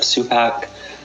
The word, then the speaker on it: Supac: my name is supac I'm with waterwise Gulf South you pronounced it my last name perfectly um and I um